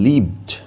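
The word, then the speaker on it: live: ওয়ার্ডটা মনে রাখবো কেন কারণ এই ওয়ার্ডটার উচ্চারণ দুই রকম হয় কখনো লাইভ হয় কখনো লিভ হয় অর্থাৎ বসবাসের ক্ষেত্রে লিভ হয় এবং কোন জিনিস যখন ডাইরেক্ট চলে টিভিতে যখন দেখেছো লাইভ খেলা হয় তখন কোনাতে এল আই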